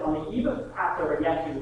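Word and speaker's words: ישו: It says, on the eve of Passover, Yeshu, which is how you say Jesus in Hebrew. Yeshua, but Jews refer to him as Yeshu to make the distinction.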